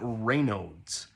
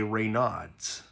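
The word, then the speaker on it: Raynaud's: that is something called rodes which is how it's actually pronounced it's it's a it's a named after a French physician r no uh but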